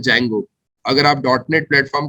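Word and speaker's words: Django: अगर आप जेंगो, है ना, जिसे डी जेंगो कहा जाता है एक्चुअल में, ठीक है, but actual spelling is जेंगो, sorry actual pronunciation is जेंगो, spelling is डी जेंगो, बट जेंगो या फ्लास्क अगर आप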